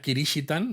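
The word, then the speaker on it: キリシタン: época de hecho no la palabra esta kirish Itan no que es como pronuncian los japoneses cristianos si habéis visto la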